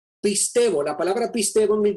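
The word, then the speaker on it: πιστεύω: La palabra que estamos viendo aquí, esta es la palabra que se pronuncia pistevo. Pistevo, la palabra pistevo en el griego aparece más de 243 en su totalidad, 243 veces.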